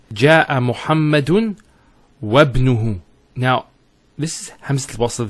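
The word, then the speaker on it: وابنه: we're actually reciting it, we don't pronounce this Hamza. We go straight to the ba. So it's wabnuhu. It's not wa ibnuhu. It's wabnuhu. It's like it joins the waw to the word ibn.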